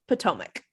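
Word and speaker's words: Potomac: the army of Northern Virginia um it is pronounced pomac thank you you're welcome if it was Canadian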